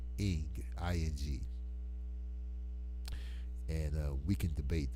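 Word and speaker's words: ankh: Maybe I can convince you that the unk is really pronounced ing, and I got a strong argument to convince you of its pronunciation.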